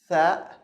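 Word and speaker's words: ثاء: It's tha. The standard pronunciation is tha, like the th in thin in English, the word thin, okay, in English.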